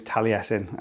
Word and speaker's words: Taliesin: one so yeah that's the way you pronounce that that particular name is taliesin uh you know you